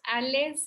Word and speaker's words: Aless: Alex se escribe como se escucha, Ale con doble S al final, Alex.